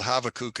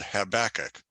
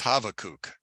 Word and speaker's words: Habakkuk: prophetic book called now it's not called havoc and Christianity it's called habakkuk but his real name is havokuk because the bee is actually a v sound and it's a it's a schwa or a short u sound so we're going to